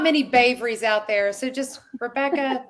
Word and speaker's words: Bavry: It's Bavry. Bavry.